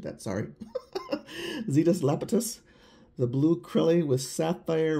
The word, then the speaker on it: Zetus Lapetus: noodles nail polish this one is called Zetas lapus lapus yeah I know I butchered that sorry zetus lapetus the blue KY with sapphire raspberry pink and